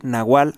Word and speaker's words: nahual: la palabra nagual que se pronuncia como W Nahual a pesar de que en México casi no se usa la W Por cierto eh sería